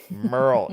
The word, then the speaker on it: Merle: Merle. You have to say it like a cow would moo.